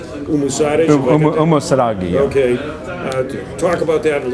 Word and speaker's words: Umusadegi: Is it pronounced Umusadegi? Umusadegi.